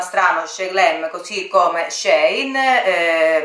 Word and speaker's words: Shein: Glam così come Shein, mi verrebbe spontaneo usare la I al posto della E, ma la mia referente mi ha espressamente, dello staff, mi ha espressamente scritto che la corretta pronuncia è con la E e non con la I.